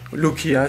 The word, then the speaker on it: Rukia: de acheter une offerte, la Rukia de Bleach, Lukia si on la prononce à la japonaise, et du coup, là, enfin, j'ai reçu Ichigo.